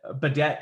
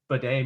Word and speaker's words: Badet: So yeah, I'm glad you said Badet too and pronounced it that way, because I would have called him Bidet maybe, and that's in the bathroom.